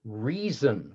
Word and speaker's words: reason: The word reason, R-E-A-S-O-N, had similar pronunciation to raising and rising.